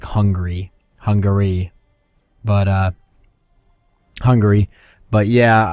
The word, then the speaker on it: Hungary: the a and it's actually hungry I've been pronouncing the a in that pretty hard I've been saying hung Gary when it's actually really more like hungry Hungary but uh Hungary but yeah I just I